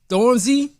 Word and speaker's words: Stormzy: right so international flaws stormies stormzy that's how that's pronounced stormzy he's a uk grime